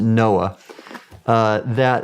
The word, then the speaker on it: NOAA: And so for example, when I was with the National Oceanic and Atmospheric Administration, we pronounced it NOAA, we had a program called the Ocean Exploration